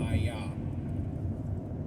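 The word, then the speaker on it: IAH: That's the only one that actually spells it I-A-H with the pronunciation of ayah.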